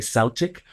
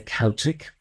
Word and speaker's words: Celtic: Celtic Tarot Therapy, and sometimes Americans say Celtic, but we Irish say Celtic.